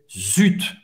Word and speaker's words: zut: Zut, você vai pronunciar o T, Z ou T em francês, zut.